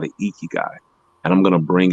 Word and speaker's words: ikigai: IKIGAI. I pronounce it ikigai, but it's Japanese, but it may be IKIGAI.